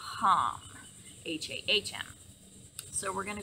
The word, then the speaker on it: Ham: is ham um so it's hm like ham pronounced ham hm so we're going to go ahead and